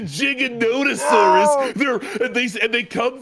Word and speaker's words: Giganotosaurus: um actually T TJ it's not a gigantosaurus it's a giganotosaurus they're they and they